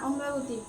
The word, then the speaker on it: অমরাবতী: কলকাতা হিমাচল প্রদেশ শিমলা অন্ধ্র অন্ধ্রপ্রদেশ আচ্ছা অম্রাবতী এ বানানটা বলছি উচ্চারণটা পারছি না অমরাবতী অমরাবতী এম এ আর এ বি এ টি